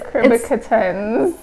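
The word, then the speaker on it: cucurbitacins: our blog, and I will actually put a pronunciation on it. It sounds like something for housing. It does, but it's Curbicutins.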